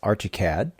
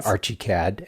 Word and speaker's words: Archicad: So, next up, I spoke with Ransen Radcliffe at Graphosoft's Archicad. And oop, I'm sorry I pronounced that wrong. For many years, I've always pronounced it Archiead.